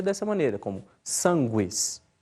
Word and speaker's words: sanguis: Depois, nos grupos Q e GU, o U é sempre pronunciado, como em qui, né, que se pronuncia qui.